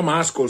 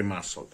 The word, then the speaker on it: muscle: Ora cominciamo dalla pronuncia gli americani pronunciano questa parola Muscle Io l'ho sempre pronunciata muscol so che è sbagliato tutti in Europa pronunciamo muscol per cui io uso muscol sappiate che dovrebbe essere Massa muscol car è un